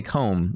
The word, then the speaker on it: comb: So comb, but you don't say it like that. So you say comb, right? And then like, okay, that's like home.